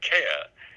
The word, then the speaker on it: Kerr: So then, in places like Ireland, it is Kerr is Kerr, as in Bill Kerr, the film actor of some time ago, South Pacific, etc. And then there's me. Now I'm a border Scot, which means that I'm in Scotland. It's always Graham Kerr.